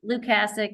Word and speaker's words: Lucich: corporate boards that's it so lucasi is that how you say your last name lucich but listen my father said it wrong at my wedding I'm used to I